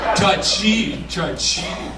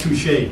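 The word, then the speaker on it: touché: Touchy. That's pronounced touche.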